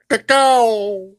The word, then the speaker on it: cacao: Cacao.